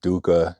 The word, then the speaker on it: dukkha: If you want to know what dukkha, that's how you spell it in Sanskrit.